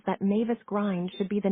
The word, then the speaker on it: Mavis Grind: bridge of land called Mavis Grind. Grind with the I pronounced as in in means a gate, though my husband says that Mavis Grind should be the name of a sultry and somewhat sleazy nightclub hostess.